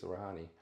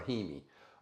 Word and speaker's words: Rahimi: to be another video about Supreme Court case rahani pronounce that word son R rahimi uh Supreme Court case rahimi is what we're